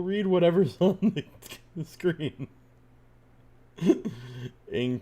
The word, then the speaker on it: Ng: Cheetah pronounced Cheetah and Ing pronounced Ing."